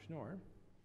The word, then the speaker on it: Schnoor: in response so the first one to Dr schnoor am I pronouncing your name right yes okay how do